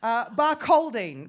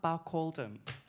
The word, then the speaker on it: Barcaldine: Barcaldine. Barcaldine. It's spelled with a... Close enough. Barcaldine.